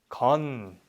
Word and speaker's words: 것은: But in speaking, we never really say it like that. So 것은, 것은, if they got shortened, it becomes 건. So 배우는 건 중요해요. 배우는 건 중요해요. It sounds more natural, right? So memorize 것은, they are always pronounced 건.